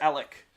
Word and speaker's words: Alek: Is it Alex or Alec? I should probably know that. I think it's Alec with a K, right? Alec. Yeah, that's what I thought. Yeah, like Alec.